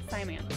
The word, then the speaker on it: Simants: Did you pronounce that right? Simants. Simants.